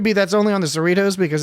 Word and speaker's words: Cerritos: It could be that's only on the Cerritos because it's a California class ship. Cerrito rhymes with burrito.